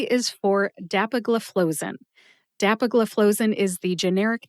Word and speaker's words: dapagliflozin: Put all 5 syllables together and you get dapagliflozin. Emphasize DAP and FLOE.